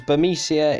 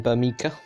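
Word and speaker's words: Burmecia: He butchers the hell out of names, like, for instance, he calls Bermesia in Final Fantasy IX Bermica.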